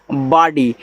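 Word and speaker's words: body: बी ओ डी वाई तो इसको पढ़ते हैं बॉडी। देखो बॉडी ऐसे बो और डी नहीं पढ़ना है।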